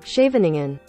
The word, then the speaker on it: Scheveningen: Google, how do I pronounce this word? Scheveningen.